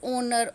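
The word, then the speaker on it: honour: Some word start with H but there H remain silent and they produced vowel sound. कुछ words ऐसे होते हैं जो एच से शुरू होते हैं लेकिन उनका एच क्या होता है? साइलेंट होता है. और उनकी साउंड कैसे आती है? वोवल की साउंड आती है.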